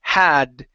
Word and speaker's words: had: So when you pronounce that D. Okay. Make sure that your tongue is not touching your teeth. If it does, um, it might sound like a V sound to us because it